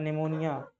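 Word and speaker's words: pneumonia: निमोनिया की spelling P से शुरू होती है। तो निमोनिया। पी का मतलब होता है निमोनिया।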